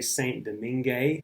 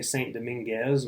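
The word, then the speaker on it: Saint-Domingue: Domingo there's so many names for I could say modern-day Dominican Republic I could say Saint Domingue which is how the French said it I could say Saint Dominguez which is how dude from the South pronounces a French word spelled that way so st.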